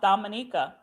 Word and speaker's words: Dominica: Pronounced Dominica.